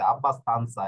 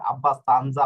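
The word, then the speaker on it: abbastanza: হ্যাঁ, আব্বাস তানসা, এই যে দেখুন স্বর উচ্চারণ করছে আব্বাস তানসা, এটা কিন্তু জ্বর উচ্চারণ করে নাই, আব্বাস তানজা হয় নাই, আব্বাস তানসা হয়েছে। এই যে দেখুন ইন্টেলিজেন্সা, এটা কিন্তু ইন্টেলিজেন্সা হয় নাই, ইন্টেলিজেন্সা হয়েছে।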